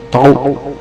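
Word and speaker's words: τ: Nah, simbolnya ini nih, dibacanya tau.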